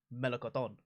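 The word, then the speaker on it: melocotón: fan of though with regards to peach it's pronunciation in spanish it's the best word it's melakoton it's delightful it's so much better than the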